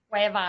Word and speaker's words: Cuevas: Cuevas.